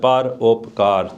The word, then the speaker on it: Parupkar: I'm going to break down that word, Parupkar, 3 syllables.